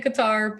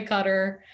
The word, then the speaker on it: Qatar: um qatar is an arabic word if you don't speak arabic you cannot pronounce it correctly so you know you